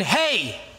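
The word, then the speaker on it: ה: first five here uh alef Betts dalet and hey that's how you pronounce it the fifth letter in the alphabet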